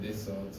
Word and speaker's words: Dassault: Spell it. Dassault.